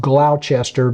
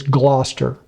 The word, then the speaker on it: Gloucester: I actually had to look up how to pronounce Gloucester because you think it's going to be pronounced Gloucester, but it's not. It's Gloucester.